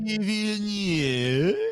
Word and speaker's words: Villeneuve: Villeneuve. Whose name, when pronounced correctly, sounds like a lot of sneezes that I've let out.